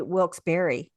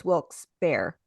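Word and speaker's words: Wilkes-Barre: wils bear okay and I even said used to say wilberry so it's wils bear hi people pronounce it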